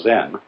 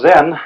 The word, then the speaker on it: Zen: Zen, of course, is a Japanese word, and it's spelled Z-E-N. And that is the Japanese way of pronouncing the Chinese word Chan.